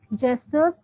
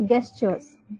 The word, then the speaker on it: gestures: us feel this as guestures that is not guestures that is is gers okay that is pronounced as J although here guest is pronounced as G this is gestur okay and this word is